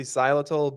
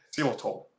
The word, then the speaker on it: xylitol: is it Jesus Xylitol it has a y so I would say Xylitol but you know you know how English is English can can just not be pronounced like that just think of the the laziest way to pronounce it that's probably like how an American would say it seal at all yeah I'll go with